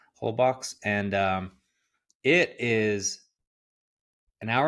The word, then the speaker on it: Holbox: It's pronounced Holbox, I guess, but I just hate to sound pretentious, so I'll just say how it looks, Holbox, and it is an hour and a half north of Cancun.